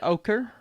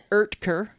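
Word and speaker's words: Oetker: the time oh what are they so Dr Oaker it's actually Dr erker really yeah because they showed it in the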